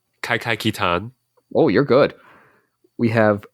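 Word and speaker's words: Kaikai Kitan: Justin, you want to help me out with that pronunciation? Kai Kai Kitan.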